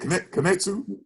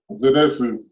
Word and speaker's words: Zenitsu: Kanetsu? Zenitsu.